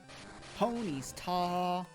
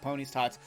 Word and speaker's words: Ponyta: me go to ponyta pony's tall and that's how you say it's not pony's tots ponies tall here's